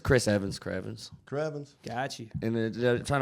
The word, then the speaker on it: CHRVNS: They always call me. They call me Krevis. I've gotten called like cuz chs and they always spell it that. It's just Chris Evans.